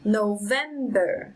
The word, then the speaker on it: November: syllable number six listen November November it's on the second syllable number seven about about